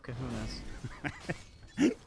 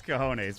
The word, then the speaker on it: cojones: Massive kahunas. It's cojones, but that's all right.